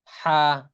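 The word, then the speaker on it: ح: এরপর আসুন হা, হা। এটা হলো জিম, থা, থা, জিম, জিম, জিম। এরকম উচ্চারণ হবে, হ্যাঁ, জিম।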